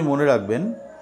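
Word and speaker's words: হ্লীং: এর ‘H’ অক্ষরের উচ্চারণ অবশ্যই শব্দটির মধ্যেই থাকা উচিত, শব্দটির উচ্চারণের মধ্যেই।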